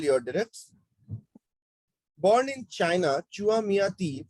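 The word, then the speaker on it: Chua Mia Tee: Born in China, Chua Miati, pronounced as Chua Miati, is widely acknowledged as one of the greatest living artists today.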